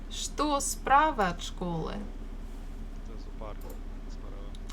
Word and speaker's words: зоопарк: Ударение на вторую О.